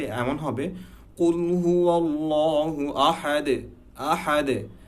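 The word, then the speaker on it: أحد: আরেকটা জিনিস খেয়াল করার ব্যাপার আছে এখানে, আহাদ, হ্যাঁ, হা, এটা কিন্তু হা না। আমরা অনেকে হতে পারে যে আহাদ বলি, এটা উচ্চারণটা এমন না, এটা হবে আহাদ, হা। একটা হচ্ছে নর্মাল হা, হ, আর একটা হচ্ছে হা। সেই হাটা ঠিক এই জায়গা থেকে উচ্চারণ হয়, হা, হা, হা, খুবই ডিপলি উচ্চারণ হয়।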